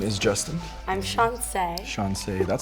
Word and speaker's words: Chanse: name is Justin I'm shance Shon that sounds pretty how do you spell it thanks like chance but the second C is an S well I guess we're